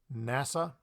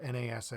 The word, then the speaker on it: NASA: pronounce it as IRS NASA not na sa we say NASA for National Aeronautics and